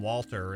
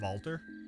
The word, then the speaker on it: Walter: one it is they they pronounced the W like a V so it's valter wonder if Stella and